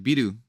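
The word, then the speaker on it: ビール: So like beer is just it's spelled like Beeru. It's biru, but you say biru.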